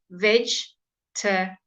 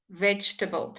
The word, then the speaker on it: vegetable: end and vegetable okay vegetable is a bit different because we don't say the second e um and that is not at the end of the word so there two e that we don't say there vegetable vegetable and you'll